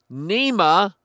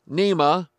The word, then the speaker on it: NEMA: Officials from the National Environment Management Agency, or NEMA, rhymes with MEMA, have been accused of